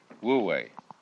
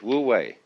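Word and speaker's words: wu wei: because it's already here and then this is pronounced this one is woo and this one is we woo way way means to act to strain to strive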